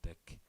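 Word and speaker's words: deque: keep studying um pronoun it is pronounced deck yes thank you very much it is pronounced deck thank you ew okay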